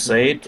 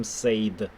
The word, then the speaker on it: said: said what... Смотри, мы не говорим said. Мы говорим, как будто бы ты сказал слово грустный. Said. Peter said. I не читается, оно проглатывается. Said.